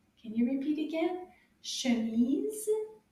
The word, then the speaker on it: chemise: Chemise, cerise. They both have the ease sound at the end. Can you repeat again? Chemise, cerise.